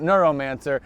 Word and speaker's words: Neuromancer: Forget everything that you heard about Neuromancer and now pronounce it Neuromancer, because that's how he pronounces it on this album.